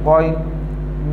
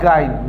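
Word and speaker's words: غ: And then this one is Goin, not Gain.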